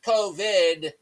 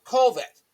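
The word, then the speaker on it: Kolvet: USA spokesperson Andrew kovit not covid but kovit k o l v t that's how it's spelled that's how it sounds what said kir was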